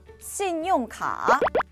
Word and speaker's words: 信用卡: 신용카, 신용카. 어디서 많이 들어보지 않았나요, 그죠? 신용카드입니다.